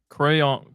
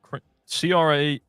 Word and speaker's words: crayon: Crayon, Crayon, pronounced crane like brains. Is that defending me, or is that just saying crane? It's crayon.